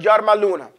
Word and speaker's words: يرملون: found in the word yarmaluna. And so you could always know them. Yarmaluna is just as it's spelled. Ya, ra, mim, lam, wow, noon. Yarmaluna. Okay?